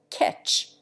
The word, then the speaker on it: catch: Contrariwise, e displaces a in catch and radish, which are commonly pronounced ketch and reddish.